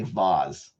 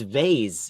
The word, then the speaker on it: vase: and you also say vase but for anyone who says vase I'm talking to you wait a minute it's vay it's a z I know it's spelled with an S some people say vas